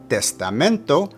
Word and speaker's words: testamento: For testamento, put the emphasis of pronunciation on the penultimate or second to last syllable.